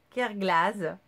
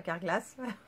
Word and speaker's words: Kerglaz: Bref, j'ai reçu ma commande Kerglas, et pas Carglass, comme j'ai mal prononcé dans le dernier vlog que j'avais eu.